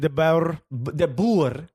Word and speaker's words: de Boer: Frank de Boer. De Boer. Now, I know for sure I'm saying it right according to Igor Mortis of de Portland. Boer? De Boer. Yeah, de Boer.